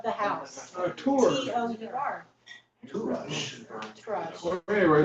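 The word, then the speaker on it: Touraj: Towerage. Like tour. Turaj.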